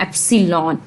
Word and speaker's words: epsilon: ये एप्सिलॉन कहलाता है, EPISLON एप्सिलॉन, EPSILON एप्सिलॉन इसकी प्रोनाउंसिएशन है।